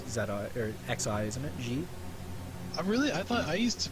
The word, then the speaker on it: xe: "Zhe"? Jordanix1871: Really? I used to pronouce it like a zed I think it's like the soft zed As in "measure" Jordanix1871: Man, I am